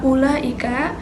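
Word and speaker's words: أولئك: Pada kata ulaika itu ada domah menghadapi wau yang huruf mad yang biasanya dibaca panjang. Namun karena ada sifrul mustadir dibacanya jadi pendek. Ulaika tidak ula tidak seperti itu.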